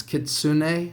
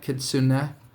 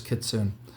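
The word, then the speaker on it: Kitsune: says the names I didn't realize I was pronouncing kitsun wrong it's kitsun or something like that kitsun I I had no clue I could have sworn it was kits soon so these are some of the cool crane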